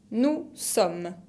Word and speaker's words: nous sommes: Nous sommes. No pronuncio ni la E final y ni la S. Nous sommes. Nosotros somos o nosotros estamos.